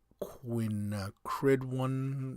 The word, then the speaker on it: quinacridone: It is, drum roll, that's my drum roll, quinacridone magenta. Quinacridone magenta. Odd, kind of cool color. Horrific, odd name. And you spell it Quinacridone.